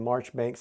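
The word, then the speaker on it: Marjoribanks: and March Banks and it says this in the rule book is pronounced March Banks how you get March Banks out of that I don't know there must be French involved but that's that's how it's pronounced and that's what we'll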